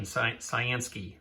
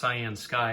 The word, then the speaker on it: CyanSky: I was saying CYANSKY, but it is pronounced CYANSKY after I contacted the vendor just to make sure I was pronouncing it correctly.